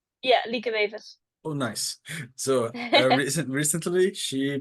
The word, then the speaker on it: Lieke Wevers: Recently, Lieke Vives, am I pronouncing right? Yeah. Lieke Wevers.